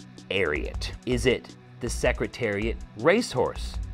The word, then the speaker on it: Ariat: So that's how you know how it's pronounced as well, because a lot of people out there will pronounce it Ariat, but it is inspired by the Secretariat racehorse, and just the last part of the name they took for the name Ariat.